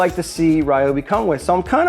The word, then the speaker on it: Ryobi: Pronounce it the right way. Ryobi, not Robi.